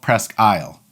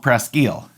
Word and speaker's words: Presque Isle: And yes, for everybody that's in Alpena, this is called Presque Isle. Yours is called Presque Isle. Spelled the same, pronounced different, and that's okay.